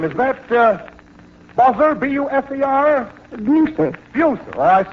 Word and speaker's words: Buser: Buser. Well, I spelled it correctly. I probably mispronounced it.